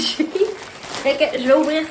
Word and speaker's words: Shein: Donc, Shein, je dis tout le temps Shein, mais je sais pas si... Il y en a qui le prononcent autrement. Bref, moi je dis Shein.